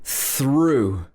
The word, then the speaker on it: through: it even more complicated this ough can also be pronounced ooh ooh making your mouth nice and round like that ooh like in through i need to drive